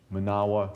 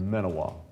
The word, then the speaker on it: Menawa: So I will probably, for the most part today, refer to that as Manawa rather than Menawa. Menawa is the common pronunciation that we hear here.